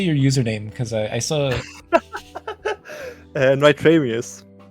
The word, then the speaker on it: NitramiuZ: Because I saw NitramiuZ. It comes from if you take in reverse and then you add a IS. That's where it comes from. Okay. NitramiuZ.